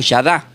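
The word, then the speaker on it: יָדַע: La palabra se pronuncia como yadá y del griego se pronuncia comoco, que sería shinosco, pero del hebreo es shadá con acento la y al comienzo.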